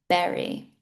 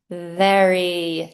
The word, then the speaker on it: very: The first word I pronounced incorrectly was, I said berry. So the correct term is very, teeth on the lips.